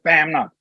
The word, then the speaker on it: Bamnut: we started using it we didn't quite know-how as the how the Americans will pronounce it and then we found out oh it's the BAM now so it all turned